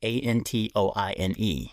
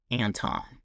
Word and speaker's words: Antoine: So my name is Anton, and it's spelled A N T O I N E. It's pronounced Anton. Growing up, people would always say Antoine instead of Anton.